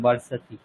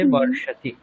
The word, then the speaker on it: বর্ষতি: হ্যাঁ, দন্ত স উচ্চারণ করেছিলাম, বর্ষতি, ওটা মূর্ধন্য স আছে, বর্ষতি।